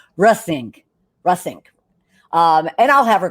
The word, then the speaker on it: Reussink: lives then um our discussion with Mariel uh rusnik is what you want to definitely be part of and I just pronounced her name incorrectly so let me make sure I get it right it's russing russink um and I'll have her correct me when